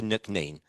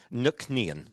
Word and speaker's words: Nc'nean: So it was like, so it was shortened to NC'Nean.